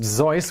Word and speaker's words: Seuss: the pen name dr seuss seuss was his mother's maiden name and when he was born his parents made it his middle name in german it's actually pronounced zoice which i'm sure some